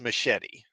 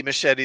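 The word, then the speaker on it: Muschietti: Directed by Andy, I've heard it pronounced Machete, so I'm just going to say that. Andy Machete.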